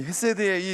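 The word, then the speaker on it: חסד: 세게 좀 발음하세요. 혀세드. 이 헤세드의 이 뜻은 따뜻한 마음이에요.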